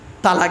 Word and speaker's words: তালাক: তালাক দেয় না। শব্দটা কিন্তু তালাক নয়। শুনে নিন। শব্দটা তালাক নয়। শব্দটা হলো তলাক। কি বললাম? তলাক।